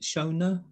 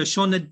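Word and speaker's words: Sioned: how to pronounce it it's s-i-o-n-e-d is it shona yeah so shauna davis babies um this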